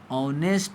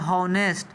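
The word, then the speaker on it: honest: होनेस्ट। होनेस्ट नहीं पढ़ते हैं मेरे भाई बहन। ध्यान दो। एच होता है यहां पे साइलेंट। यानी एच का उच्चारण नहीं होता है।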